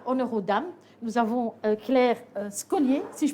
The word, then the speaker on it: Claire Scollier: Alors, avec nous, ce soir, honneur aux dames, nous avons Claire Scollier, si je prononce mal votre nom.